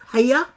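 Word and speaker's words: Haigha: His name is Hager." He pronounced it so as to rhyme with mayor, so said Hager.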